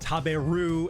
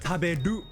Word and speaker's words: taberu: So these letters aren't pronounced taberu and popcorn, but tabedu and popukon.